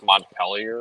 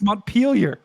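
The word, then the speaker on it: Montpelier: the screen the M with the m it's montellier or something like that nope that's what I thought monture it's mpar sure I always mispronounce mpar and the last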